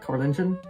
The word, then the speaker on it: Carolingian: Is that how you pronounce it? Carolingian?